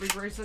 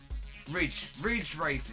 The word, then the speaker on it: Ridge Racer: Was it called Rig Racer? Did I spell it wrong? Ridge Racer, you idiot. Ridge Racer. Yeah, I was gonna say Rig Racer.